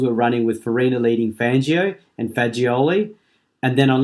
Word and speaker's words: Fangio: I can only say that Fangio is actually pronounced Fangio.